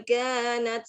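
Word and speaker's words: كانت: Inna jahannama kanat mirsoda. Inna jahannama kanat mirsoda. Kanat. Kaknya panjang.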